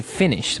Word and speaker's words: Finnish: So that's the way that you say Finnish, with double N, right? That's right. It's not like I finished my homework. It's Right. like F-I-N-N-I-S-H, Finnish.